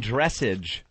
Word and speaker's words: dressage: Equestrian dressage? Dressage, actually. Dressage? Yes. I pronounced that right.